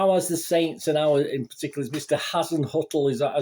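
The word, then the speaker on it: Hasenhüttl: saints and i was in particular as mr hassan huttle is how you pronounce i just call him the saints manager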